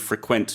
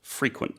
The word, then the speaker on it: frequent: And notice the pronunciation of frequent, not frequent. That's right, because it's a verb in this case.